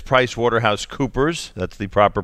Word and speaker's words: PricewaterhouseCoopers: All right, Brian Ness is with us, and it's PricewaterhouseCoopers. That's the proper pronunciation.